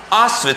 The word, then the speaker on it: Auschwitz: उन लोग रह रहे थे एक ऐसे जगह में जो जगह का नाम है, देखो मैं लिख रहा हूं ऑस्विच, स्पेलिंग देखो AUSCHWITZ।